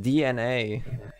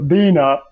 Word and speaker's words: DNA: pronounced DNA. Is it really? Is it? It Yeah. is. They said it in the Q&A once. Are you serious? Ah, well, whatever. You know what? Fuck And yes, them. They don't that- deserve it's- to have their their name name- pronounced right. Also, their name is literally a pun because, you know, DNA.